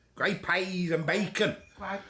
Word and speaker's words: grey peas: great pays gray PS that's how to talk great pays gray pays and bacon gr p on bacon yeah it's